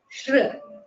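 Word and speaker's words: श्री: in crew yes sri which is pronounced as shri so notice the difference in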